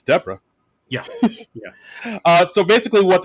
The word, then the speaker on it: Deborah: Yeah, because like basically, Connor calls her, "Oh, thanks, Deborah," and she says, "Oh, it's actually pronounced Deborah."